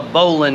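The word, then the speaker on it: bowline: and it's a knot it's called a bowling knot it looks like bow line the way they spell it and if there's one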